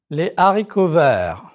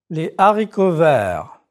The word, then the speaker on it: haricots verts: Again, you don't pronounce the H sound like in English. Him, her, happy. Two words that have to do with food have this H, the aspirate H. Les haricots verts.